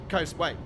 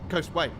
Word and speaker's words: Coastway: One syllable. Coastway. Oh, it's actually two syllables, actually. Coastway.